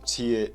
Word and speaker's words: T-it: No, it's pronounced "tiet", standing for T-Cow's Git.